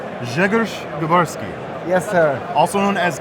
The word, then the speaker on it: Grzegorz Grabarski: All right, now we are here with, I'm going to pronounce it correctly, Grzegorz Grabarski, Yes, sir.